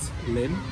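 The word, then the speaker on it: Lympne: see is um port lim which is spelled l-y-m-p-e and it's pronounced limb and it's a roman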